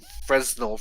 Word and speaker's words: Fresnel: So the PSVR 2 has the Fresnel.